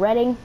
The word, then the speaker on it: Reading: also knew I'm from Reading PA dude yes sir liber8 I live right down side of silly already you'll be seeing that little place that is spelled reading but it's called reading yeah that's where I